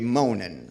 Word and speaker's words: Munin: Ellos se llaman Hugin y Munin, así se pronuncian más o menos, y significan algo.